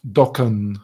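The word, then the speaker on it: Dokan: all right no Doan Doan right yeah um always You're supposed to stretch the air so not K it's more like KH back in right fair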